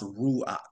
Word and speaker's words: ruach: So ruach is one Hebrew word for spirit, and again, pronounced ruach.